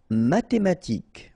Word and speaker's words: mathématique: Mathématique, remember, H doesn't exist, so mathématique. Remember, Q-U-E at the end, K.